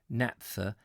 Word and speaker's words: naphtha: we go I don't know how do you pronounce it Nath's it's naphtha is a flammable liquid hydrocarbon mixture mixtures labeled naphtha have been produced from natural gas condensate petroleum